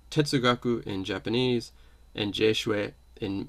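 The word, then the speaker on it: 哲学: the term is pronounced so it's the same term in chinese and japanese but it's pronounced differently it's pronounced tetsugaku in japanese and jeshui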